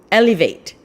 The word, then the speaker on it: Elevete: so which is it it's alibi elevate as in elevate your lifestyle elevate your taste nice so that's how